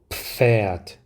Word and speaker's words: Pferd: 입을 닫고 F 발음을 하기 때문에 바람 새는 소리가 한번 나온 다음 F 발음이 들어가게 됩니다. 그래서 F 발음을 할 때 윗니빨로 아랫입술을 물어야 하죠. 그런데 그거를 입을 닫은 상태에서 시작을 하니까 그 윗니빨로 아랫입술을 물러가는 과정 속에서 바람 새는 소리가 나오게 되는 겁니다.